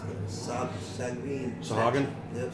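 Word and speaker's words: Sahuagin: I always pronounce this stuff. Sagrin. Sahagin? Yep, Sahagin.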